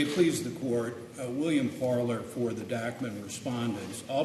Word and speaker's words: Parler: very good Mr Nevan Mr oh do I pronounce it correctly parlor yes okay good morning may it please the court William parlor for the dakman respondents I'll be addressing the